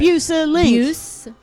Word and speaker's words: Bueselinck: That's right. Bueselinck. Like link.